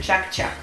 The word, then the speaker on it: чак-чак: У татар оно называется чак-чак. Хотя я думаю, у татар-то оно называется по-другому, но на русском языке это произносится чак-чак.